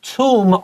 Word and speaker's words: tomb: belongings就是他們這些遺物放在旁邊這些類似像陪葬品一樣一起放在裡頭 So tomb also sounds like the word room R-O-O-M because that's what a